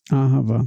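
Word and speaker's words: אהבה: Aravá. Aravá. Olha só que incrível que o hebraico é. São três sílabas, três, na verdade são cinco.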